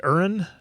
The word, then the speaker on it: Eren: I know somebody in the comments corrected me about that, so it must be Eren, I'm thinking. Eren. Eren. Okay. Aaron. I'm not the best at my Eren.